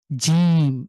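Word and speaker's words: جيم: হালকা করে হা এরপরে হলো জিম এখানে আমাদের যে জ রয়েছে ঠিক এরকম জিম শক্ত করে জিমের উচ্চার উচ্চারণ কেমন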